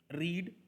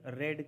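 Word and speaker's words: read: different रीड इसका pronunciation रेड किया जाता है टू be honest colour रेड colour उसको रीड रीड एंड रीड मत बोलो अगर रीड का सेकंड फॉर्म है तो उसको रेड प्रोनाउंस किया जाता है आई रेड अ न्यूज़पेपर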